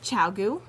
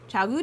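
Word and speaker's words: ChiaoGoo: Okay, so these are Chowgu. Is that how you say it? Yep. Excellent. Chowgu needles.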